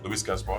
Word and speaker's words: Louis Gaspar: Get the pronunciation right? Because he is French. Louis Gaspar, yeah.